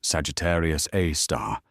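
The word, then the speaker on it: Sagittarius A*: The asterisk in astronomical naming convention is pronounced star. So, it's Sagittarius, a star, and it has a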